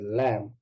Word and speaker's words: lamb: very good a lamb very good that is lamb right because the bee is silent we say it is a lamp right